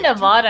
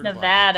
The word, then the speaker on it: Nevada: saying yeah I said I say Nevada and it's Nevada and I have that's